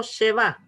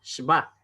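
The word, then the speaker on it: שווא: debajo de las consonantes se llama shba. No sheba, sino shba. La E no se pronuncia, ¿ya?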